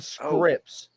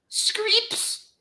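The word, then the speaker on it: Scrypts: super heavyweight right one his name is not pronounced Scripts how is it pronounced screeps I'm not taking the piss I'm not taking the piss that's literally how he introduced himself scripts scripts creeps because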